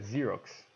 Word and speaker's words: Xerox: E a pronúncia correta em inglês é Xerox, né?